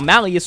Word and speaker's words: Malleus: Now, Malleus, or Malice, however you want to pronounce it, should sound familiar,